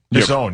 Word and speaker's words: DAZN: DAZN, yeah.